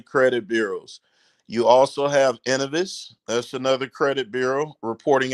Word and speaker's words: Innovis: Innovis, yes, sir.